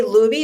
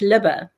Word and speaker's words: Luby: Luby do you say Luby is that your last how do you say your last name yeah it's liba love oh okay I was really wrong on that one because I just know